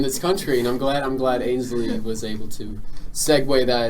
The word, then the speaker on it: Ainsley: Okay, but if you know it's pronounced Ainsley, As what else? opposed- Is it like Ansley or something?